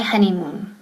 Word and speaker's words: honeymoon: So the last part is on my honeymoon. Okay, empezamos con honeymoon. Honeymoon is luna de miel. Y pronunciation, very important, honey, honey, no honey. Okay, nunca honeymoon, honey. So O es como A, ¿verdad?